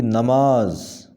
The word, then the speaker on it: نماز: نماز، صحیح ادائیگی ہوگی نماز، نون کے اوپر زبر ہوگی نماز۔ ناواقفی، ایسا کوئی لفظ